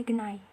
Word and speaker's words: geni: Jadi misalnya seperti contoh kalimatnya itu misalnya geni. Nah, dalam bahasa Osing itu diucapkan sebagai genai. Seperti itu.